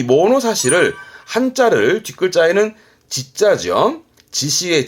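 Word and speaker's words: 物差し: 요거는 발음은 모노사시, 모노사시입니다.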